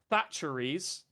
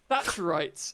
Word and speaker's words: Thatcherites: including One Nation Conservatives, Thatcheries, damn, That's not how you pronounce that. Is that right? Thatcherites, amazing.